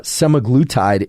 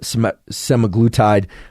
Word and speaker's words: semaglutide: I can never pronounce this can't seem to pronounce many things it seems uh semaglutide is the the way I would pronounce it